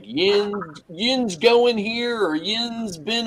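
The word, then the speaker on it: yinz: it what it's it's the way they spell it is y-i-n-z is how it comes out so they always say like Yin yin's going here or yin's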